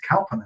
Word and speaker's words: Kalpana: Or should I say, I'm pronouncing her name wrong, and it's Kalpana, and I do apologise, and it's because us English, we read it we do differently. We read it how we in English, but it's not the same.